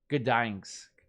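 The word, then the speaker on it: Gdańsk: Gdansk. Wow, that was so hard for me to say. Gdansk.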